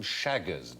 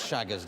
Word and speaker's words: Chagas: And while we're on the subject of diseases, who suffered from Chagas disease?